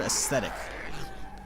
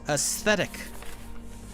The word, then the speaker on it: aesthetic: Is motherfuckers who don't know how to say the word aesthetic. Spell it out, chat. A-E-S-T-H. T-H. Sound. Not t. Motherfuckers don't realize it's aesthetic.